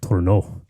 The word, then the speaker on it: Tournant: is Tournant or Tournant or Tournant, but correct pronunciation is Tournant.